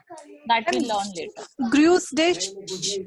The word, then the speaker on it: Grüß dich: Gru's dish pronunciation.